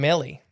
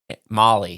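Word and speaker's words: Mali: and medicinal purposes in Melly or mal how do you say that m a l i Molly Molly there thought to increase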